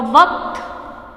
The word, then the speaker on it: वक्त: ऐसे ही आधा क प्लस त, तो कैसे बोलेंगे इसको, कत, है ना। तो वक्त, है ना, क को हम जल्दी प्रोनाउंस करेंगे, आधा है, ये आधा क और त।